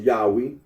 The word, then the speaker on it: Yahweh: for the name yah the scholarly consensus that the original pronunciation of the Tetra gron was yahwe arino agrees that when